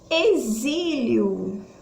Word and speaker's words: exílio: cinco letras 5 fonemas o que é exílio e aí eu tenho quantas letras 6 letras pés fonemas porém o som do x vai sair com som de z na verdade a f